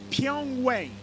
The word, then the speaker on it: Pyongyang: And I gotta figure out how to pronounce this word the correct way. Pyongyang.